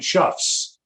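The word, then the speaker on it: chough: even heard of before i start this and chuffs i know it says chops but it's pronounced chops all right ravens first of all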